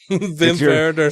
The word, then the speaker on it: Wim Wenders: They're spelled with W's, but I pronounced it like a German. Werner. Wim Wenders.